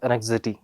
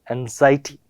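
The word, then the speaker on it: anxiety: इसको मैं पहले स्टार्टिंग में क्या बोलता था, एनेक्सिटी, बट जब ओवर द टाइम मुझे इसका सही प्रोनाउंसिएशन सीखने को मिलता तो इसको क्या बोलेंगे आप लोग, एंजाइटी।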